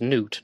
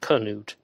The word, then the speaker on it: Knut: By the way, we always pronounce his name as Newt, not Canute.